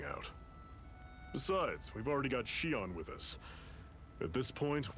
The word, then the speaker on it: Shion: Shion, that's how you pronounce her name.